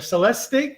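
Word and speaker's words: Celestiq: Cadillac 2024 um the celt the Celeb the Celeste stick if I'm pronouncing it right c-e-l-e-s-t-i-g the new electric Cadillac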